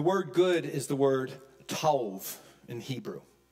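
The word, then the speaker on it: טוב: good is the word Tov in Hebrew it's pronounced t-o-w-v tauv of all the definitions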